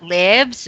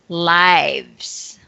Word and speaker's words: lives: and the last one it's not libs but lives okay so this one